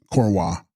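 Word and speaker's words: འཁོར་བ: Text corva pronounced corwa a thing whirling around.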